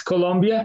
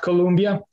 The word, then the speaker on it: Colombia: So before getting it started, it's important to remember that it's Colombia, not Colombia.